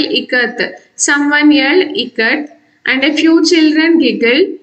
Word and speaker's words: ikat: Someone yelled ikat and a few children giggled. Janaki teacher said it is pronounced I as in I, it, ka, and as in Kamala, and T as TH in both.